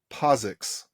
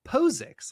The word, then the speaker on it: POSIX: not I don't know I feel like the i in posix should make the O say its name posix like that's how I learned it now no I agree